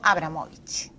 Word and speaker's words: Abramovich: Pero bueno, vamos a hablar de todo y sobre todo vamos a hablar de traiciones y de confianzas con Jausuño Abramovich. Ahora sí he pronunciado bien su apellido.